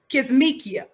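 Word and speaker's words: Kizzmekia: in the first place her real name is pronounced kismekia k-i-z-z-m-e-k-i-a corbett right it says miss kisnikia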